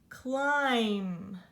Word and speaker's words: climb: underneath that we have climb Americanize this cuz it looks like limb but without a see climb climb do here oh I'm but another silent B so you hear the climb you don't hear